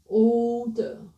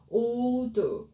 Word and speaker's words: older: Older, older, older, older, older. The first two I didn't pronounce correctly. My mouth shouldn't move. So the correct one is don't move your mouth to the end. Older, older, older, older, older.